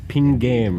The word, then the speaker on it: Pingame: gonna be His mixes it's gonna be are pin game first, and then Witch Doctor, and then James Landino, Yeah.